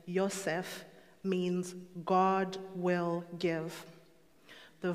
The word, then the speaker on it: Yosef: forth the name itself joseph or by the hebraic pronunciation yosef means god will give